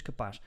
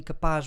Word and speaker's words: capaz: Interestingly, capaz rhymes with rapaz, which means boy, and there's this expression in Portuguese called Maria Rapaz, which is literally tomboy.